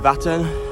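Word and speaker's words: Vättern: I'm currently riding alongside a big body of water called, I think you pronounce it Vattern.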